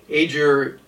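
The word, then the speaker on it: Aegir: Aer is how I'm pronouncing it. It's spelled ae e g i r.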